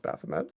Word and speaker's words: Baphomet: I've definitely hearing Bethany but Beth it is pronounced Baphomet okay I I pronounced lots of things very